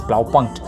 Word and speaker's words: Blaupunkt: okay blah blah enjoy you have to know how to pronounce it it's plow punch buttons and all those